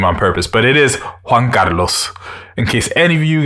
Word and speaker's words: Juan Carlos: revisionary podcast and as always i'm your host juan carlos so that's how you actually pronounce my name in case any of you